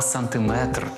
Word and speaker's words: сантиметр: на останній склад кілометр так само не сантиметр а сантиметр Тому треба казати 2